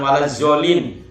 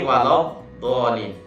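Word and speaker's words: وَلَا الضَّالِّينَ: Jangan sampai bunyinya zo, ya, atau za, jangan, ya. ZA, lalu di sini kasih koma dan di sini dikasih titik, bunyinya do, jangan sampai zo, ya. Jadi kalau di surat Al-Fatihah ada do, ya. Lain lagi. Ya, jangan waladzolin, tapi waladhdallin.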